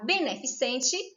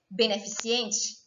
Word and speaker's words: beneficente: forma errada por exemplo a palavra beneficente das pessoas pronunciam beneficiente o a morfologia também